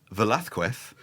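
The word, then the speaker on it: Velázquez: But Velathqu is uneasy in any version, properly Hispanicized or not Hispanicized.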